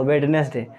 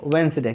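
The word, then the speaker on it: Wednesday: का उच्चारण क्या होगा, तो बहुत लोग बोलते हैं, जो नहीं जानता होगा वेडनेसडे, जो कि टोटली क्या है, रॉन्ग है। उसका रियल प्रोनाउंसिएशन होता है वेंसडे। क्या होता है जी? वेंसडे।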